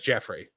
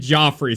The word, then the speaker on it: Geoffrey: No, how would you say a name spelled Geoffrey? Geo. That's Jeffrey.